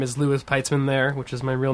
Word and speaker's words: Louis Peitzman: find me on twitter uh my name is lewis pietzmann there which is my real name okay i can spell it it's i t l-o-u-i-s-p-e-i-t-z m a n